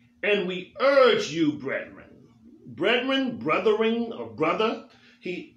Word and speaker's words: brethren: and we urge you brethren brethren brothering or brother he we urge you it's pronounced breath ring we he urge you